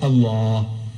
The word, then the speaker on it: Allah: If it's A-L-A-H, is Allah. You say Allah. I said, look, say Allah, my language.